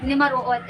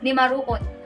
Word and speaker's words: nimaruot: Nimaruot. Okay? Nimaruot. So how do we pronounce it? We have the N sound. We have voiced alveolar nasal.